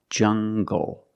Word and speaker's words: jungle: jungle tangle and angle these are pronounced with the hard G sound example monkeys live in a jungle make the hard G sound jungle so you have the